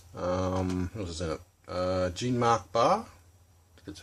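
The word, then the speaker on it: Jean-Marc Barr: uh gene renault um what is it uh jean mark barr that's how you pronounce it and rosanna arquette says she's sort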